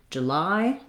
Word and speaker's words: July: your language is that we stress on the lie syllable. So it sounds like j, lie. Length on lie, the j is an unstressed schwa.